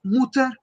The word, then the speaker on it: Mutter: Entonces es muy importante en la pronunciación, por ejemplo, que acá la haga sin el umlaut para indicar el singular. Sie ist Mutter und arbeitet nicht.